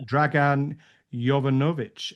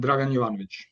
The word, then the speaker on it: Dragan Jovanovic: So, joined tonight by Stefan Michaelides and Yeah, Dragan Jovanovic. Have I got those pronunciations right, guys?